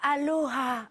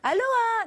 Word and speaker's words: aloha: pointilleux sur ce sujet, on ne dit pas aloha, non on dit aloha, Aloha.